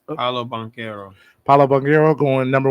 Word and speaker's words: Paolo Banchero: How do you pronounce? Paolo Banchero.